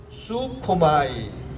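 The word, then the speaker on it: προσεύχομαι: 기도하다, 요 동사를 발음기호 적어놨으니까 읽어봅니다. 프로수코마이, 요런 단어입니다. 프로스, 그 다음에 유, 그 다음에 코마이.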